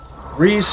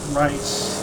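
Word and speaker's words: Reiss: Alright, so Reese versus Rice. R-E-I-S-S. That name is pronounced Rice.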